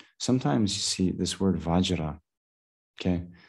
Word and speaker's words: Vajra: you see this word Vajra. Okay, the Tibetans pronounce that as benza. So sometimes, when you hear, like for example, in the Vajrasattva mantra, instead of Om Vajrasattva, they'll say Om Benza Sato.